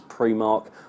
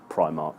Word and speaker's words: Primark: story today on BBC as well how people pronounce Primark apparently up north it's pre mark the Primark boss has said it is Primark so apologies enormous you've got that wrong it's